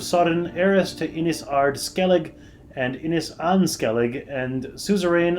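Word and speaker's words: Skellige: journey from central to Skellig or Skellig ah pardon me as we now know it's pronounced which took the lives of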